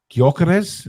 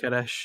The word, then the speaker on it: Gyökeres: Yes, Isak has started up front with Gyökeres. Is that how you pronounce it, Alex? Gyökeres, yeah.